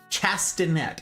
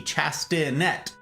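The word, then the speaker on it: chastinet: that's what it's called chastanet I knew it started with a c but it's not a C Sound c h a s t i n e t chastanet and it was wow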